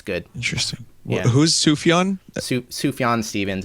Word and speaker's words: Sufjan: Su Sufyan Stevens. It's spelled S U F J A N.